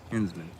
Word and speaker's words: Henzman: Henzman.